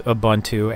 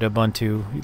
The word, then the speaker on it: Ubuntu: isn't an article, it's right from Ubuntu itself, or Ubuntu, depending on how you want to pronounce it. Once again, people get all up in arms if you don't pronounce it right, but that's how I pronounce it, Ubuntu, like it or not.